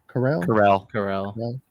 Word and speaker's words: Karel: How do you say his first name? Is it Carell? Carell. Yeah. Karel Vejmelka. One notable thing from this game actually came from the celebration after.